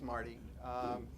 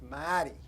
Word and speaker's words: Marty: And by the way, my name wasn't always Marty. When I mentioned I came from here, so before my name was Maddy, right? And then I went to prep school for 4 years and started pronouncing my R's, because I took a lot of grief.